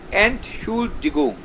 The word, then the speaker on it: Entschuldigung: So ENT needs to be spoken separately. Separately in the sense with the particular pronunciation that ENT has.